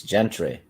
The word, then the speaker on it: Gentry: like G, give, like J, or G? Oh, he's saying I'm right. It's Gentry. Oh, so it's Gentry. Yeah. Well, I've been saying that for quite a while now, Will. It should be freaking spelled with a J. No, because gentleman.